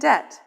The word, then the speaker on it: debt: stir in some words there are silent letters let's look at some words with silent letters b doubt and debt h chemist and chaos